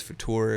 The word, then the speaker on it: Futur: The Future spelled without an E. It's Futur if you want to, Futur.